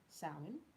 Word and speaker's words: Samhain: and as i've mentioned to you it is pronounced saoin it's gaelic the origin of the word is